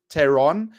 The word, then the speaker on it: pteron: So it's like a pterodactyl, but it's so the P is silent. So pteron is like pterodactyl, but it's Pteron, which means wing.